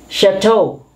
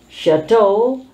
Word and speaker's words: chateau: is a kind of light material a cloth chateau chateau is a cottage usually used by lords by